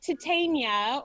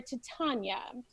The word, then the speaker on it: Titania: playing Hippolyta and then lots of different pronunciations of the fairy Queens name exists out there and so we have to agree titania or to Tanya and so Rosana you